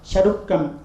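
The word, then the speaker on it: சருக்கம்: So same is pronounced as Charukam in Tamil literature.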